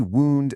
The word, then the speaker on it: wound: This is the wound that rhymes with moon.